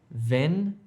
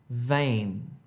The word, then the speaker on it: vein: Ven, vein.